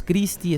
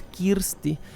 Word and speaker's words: Kirsty: su en su pronunciación no es christi es kirsty la protagonista y es